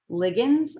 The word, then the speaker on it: ligands: Protein hormones are often called ligands, or depending on the person saying it, sometimes it's pronounced ligand, and it's still a hormone, but it cannot cross the cell membrane.